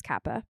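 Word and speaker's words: Capa: Kappa he was a war journalist it is Kappa yeah he was a Hungarian American war photographer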